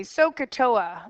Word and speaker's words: SOHCAHTOA: It's actually, we say Sohcahtoa is how we pronounce it.